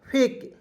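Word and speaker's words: fake: दोस्तों इसे क्या पढ़ेंगे फेक एफ से फ के से क लिखेंगे अंतिम में ई है इसका उच्चारण ए के रूप में फेक देखिए दोस्तों आपको इतना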